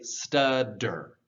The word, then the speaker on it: stutter: word stutter, to stutter, you can say stutter with T's, but whenever you're speaking quickly, if you want to sound fluent, you would want to say stutter. I know that sounds crazy because that's a double T sound, but between two vowels especially, that double T will very often become a D sound.